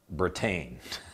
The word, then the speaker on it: Britain: i was there dude my name is britain pronounced like bratain i thought you might